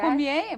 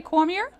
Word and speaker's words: Cormier: Is it Cormier or Cormier? It could be either. French, you have the correct pronunciation. Yeah, yes. Cormier, but most people say Cormier.